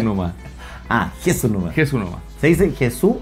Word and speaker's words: Jesús: ¿Se dice Jesús o Jesús? Pregúntalo. Pregúntalo. Supercomputador. ¿Cómo se dice tu nombre? Jesús. Jesús. Jesús. Ah, con acento en la E.